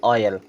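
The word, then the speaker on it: oil: वह हम देखते हैं देखिए अगर यहां ओ आई एल लिखा है इसको हम क्या पढ़ते हैं ऑयल क्या पढ़ते हैं ऑयल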